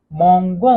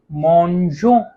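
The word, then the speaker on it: mangeons: जी ओ के साथ आ रहा है तो मोंगो होना चाहिए, लेकिन अगर मोंगो होगा तो अपने नॉर्मल प्रोनाउंसिएशन से ये डिफर कर जाएगा, फर्क हो जाएगा इसमें।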